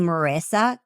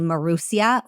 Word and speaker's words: Marissa: Um, my name Marissa can't be pronounced easily in Hebrew. And so they would make fun of me. They would call me Marusia, which in Hebrew means from Russia.